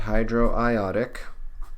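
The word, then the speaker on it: hydroiodic: uh hydrochloric hydrobromic and hydroiotic or hydriotic if that's how you prefer to pronounce it uh sulfuric nitric perchloric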